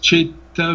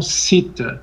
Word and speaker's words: chitta: Por que chitta e não sita?